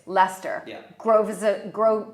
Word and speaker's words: Leicester: things like, I know how to pronounce it now, but when I first came here, Leicester Square, Yes. but it's Leicester.